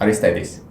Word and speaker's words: Aristeidis: contributor and today in our studio we host aristes hello Dominique I'm very happy to be here okay did I pronounce it correctly Artis yeah you pronounce it